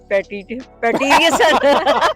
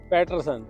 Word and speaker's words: Patterson: ये है टॉम पैटिसन। टॉम पैटिसन। पैटरसन पैटरसन।